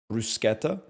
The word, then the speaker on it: bruschetta: in the mid 2000s I know that it's pronounced brusketta but I'm just going to call it bruschetta cuz I'm already sound